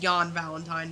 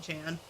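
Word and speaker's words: Jan Valentine: damn it yan yan technically Jay pronounces why yeah it's Yan Valentine not Jan uh anyway the crazy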